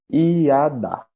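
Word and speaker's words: ידע: O verbo conhecer em hebraico se diz iadá. Iadá se escreve assim: Y-A-D-A-H. H mudo.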